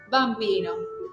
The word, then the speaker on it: bambino: No tengo dobles consonantes. Entonces acentúo la primera y voy bajando. Bambino.